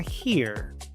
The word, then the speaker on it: hear: Esta palabra se pronuncia hear porque la H se pronuncia como J, la E se pronuncia I, la A es muda y luego se pronuncia la R.